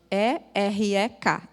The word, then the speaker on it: erek: O nome é erek, E-R-E-K, erek, que significa longo, vagaroso em irar-se.